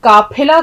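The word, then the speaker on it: क़ाफ़िला: अब देखिए, काफिला कोई लफ्ज़ नहीं होता, उच्चारण के लिए यहाँ भी ध्यान देना ज़रूरी है, काफिला।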